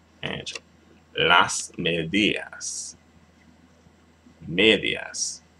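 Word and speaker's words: medias: medas right Ang Las medas medas there you have it medas as situation Falls on the second to last syllable when it ends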